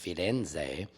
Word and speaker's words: Firenze: If you can go to Florence, Italy, it's pronounced Firenze. You know, us Americans, we say Florence.